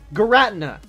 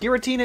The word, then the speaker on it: Giratina: you're saying it wrong let me introduce you to a pronunciation that you probably have never heard of it Gretna that's what I called this Pokemon because it sounded so cool then I watched Giratina in the sky warrior I hated the correct pronunciation because having to say the name Tina doesn't make this Pokemon intimidating Dan I built up